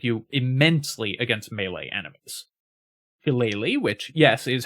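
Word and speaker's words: Shillelagh: Halele, which yes is how it's pronounced, is druid's best damage option, giving you an extremely powerful melee attack.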